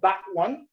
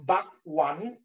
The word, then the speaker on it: bakwan: The entree one is actually called bakwan. Bak, like how you pronounce back, but really quick, back. Okay. No, it's like bakwan.